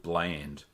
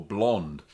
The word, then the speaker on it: Blaand: And that alcoholic beverage is called Blaand or Blond, depending on where you come from and how you pronounce it.